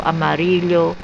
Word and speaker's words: amarillo: The double L in the Spanish word for yellow, amarillo. How they pronounce amarillo? Amarillo, I don't know. It's pronounced as Y.